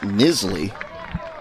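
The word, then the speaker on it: Knisley: I will correct myself it is nizzle silent k as this time it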